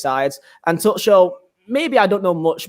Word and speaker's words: Tuchel: that, your new manager is a tuchel. That's how you pronounce it.